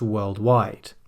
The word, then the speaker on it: worldwide: But if you put it on its own, maybe at the end of a sentence, then the stress will appear on the second syllable. So this problem exists worldwide.